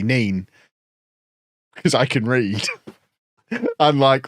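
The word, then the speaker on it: Nene: how do you pronounce the river nen I pronounce it correctly nen because I can read unlike those Northampton folk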